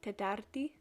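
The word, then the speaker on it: Τετάρτη: Monday in the top left there is pronounced Deftera, Tuesday is Triti, Wednesday is Tetarti, Thursday is Pemti, Friday is Paraskevi, and then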